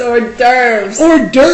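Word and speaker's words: hors d'oeuvres: It's not horses or it's it's orves.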